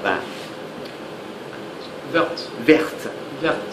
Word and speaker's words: vert: Vert. Vert. Vert. So there, it's like air. Vert. So there, the sound is like Air.